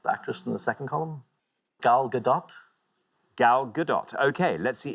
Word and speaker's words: Gal Gadot: has a mispronounced name so well done for pronouncing it correctly galgadot galgadot good name thank you very much indeed